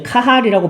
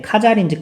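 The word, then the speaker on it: Cajal: 자, 이걸 찾아보니까 이제 카할이라고 발음하기도 하는데, 카잘인지 카할인지 어쨌든 과학자 나왔어요.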